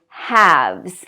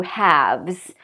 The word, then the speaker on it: halves: to make it plural you're going to add v-e-s as in calves and halves like two halves and again no L pronounced at all so these are common